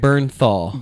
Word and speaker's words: Bernthal: No, John Barrenthal or how do you say his last name? This guy that's in this movie. Oh, John Barrenthal from The Walking Dead. Yeah, he's in the Punisher. Bernthal. Bernthal. Like Menthol, but he's really really